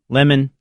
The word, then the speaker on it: Lehman: It's Lemon. Lehman.